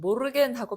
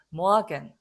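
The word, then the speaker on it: Morgen: 자, 요거는 독일 사람들은 모르겐 하고 발음하진 않아요. 독일 남부에서는 좀 그렇습니다. 그렇게 이 R 발음은 모르겐 이렇게 하기도 합니다. 그런데 일반적으로는 이 에르 발음은 약간 모아겐 이런 식으로 그냥 모아겐 하면 좀 더 가까워요. 사실은 모아겐. 이 에르가 단어 중간에 들어가 있으면 아 발음 비슷하게 하면 오히려 가깝다.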